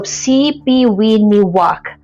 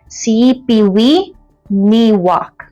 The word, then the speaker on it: Sipiwiyiniwak: So CPIwok is how you say it but if you read it it will it looks like it's CPIwok. So, here's the trick. Okay, the middle syllable ye just just skip it and read the rest as is.